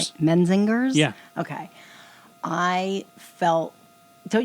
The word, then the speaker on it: Menzingers: Um I can't pronounce their name properly. The Mensingers. Okay. The Mesingers. Menzingers.